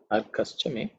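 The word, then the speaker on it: अर्कश्च मे: Arkaschame. When the sandhi is split, it is Arkaha Chame.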